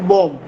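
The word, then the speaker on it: bomb: Associated with the development of India's atomic बॉम्ब। बी, एम के बाद अगर सर बी आता है तो बी साइलेंट होता है, तो ये बॉम्ब नहीं, बॉम्ब प्रोनाउंस किया जाएगा।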